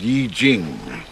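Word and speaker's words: I Ching: out eastern wisdom the journey of self-discovery it's pronounced yi jing so what's the story outside with the poster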